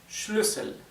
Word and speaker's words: Schlüssel: Sin embargo, como en vez de una SZ tenemos una doble S, es una U corta.